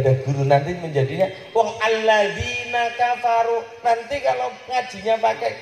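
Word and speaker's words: الذين: Alladzina, bukan alat zina. Tulisannya sama, bacanya beda.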